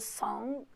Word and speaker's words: song: gosto de uma song, que pronuncia song e escreve song, tem um G, mas não fala song, um G bem sutil.